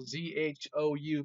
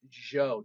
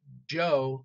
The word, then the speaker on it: Zhou: Z-H-O-U, pronounced Zhou. Not so much Zhou like the name, but Zhou.